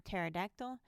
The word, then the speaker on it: pterodactyl: mnemonic or mnemonic and silent P in PT PS and PN as in pterodactyl psychology mnemonic now we'll learn how